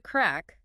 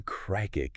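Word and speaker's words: craic: hard as it looks it rhymes with crack and it basically means fun enjoyment good times you know so if someone asks what's the crack they're essentially asking what's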